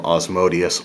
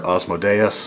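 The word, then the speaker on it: Asmodeus: those are the ones that are derived from Osmo Deus or Osmo Deus I've heard it pronounced a few different ways and then you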